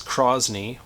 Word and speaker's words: crosne: finis or I guess the French name I'm going to butcher the pronunciation here is KRAS knee or also called Chinese